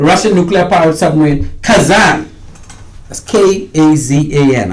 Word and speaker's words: Kazan: The Russian nuclear-powered submarine Kazan, that's K-A-Z-A-N. I don't talk Russian, but I think I say it right, Kazan, or Kazan.